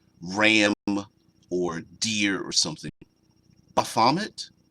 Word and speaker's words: Baphomet: Baphomet? That's what I said. Or Baphomet. Oh, that I placed the wrong emphasis in the improper syllable.